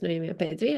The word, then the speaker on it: Noemi Apetri: My name is Noa Pedri, as Karen perfectly pronounced.